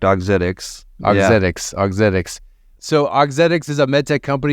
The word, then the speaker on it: Auxetics: going to be telling the origin story of otics did I pronounce that correctly Ramsey that's correct otics otic autic so auxetics is a mettech company